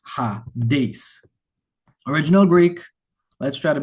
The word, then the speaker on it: Hades: This S has an S sound.